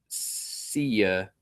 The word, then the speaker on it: Sia: It's pronounced Sia.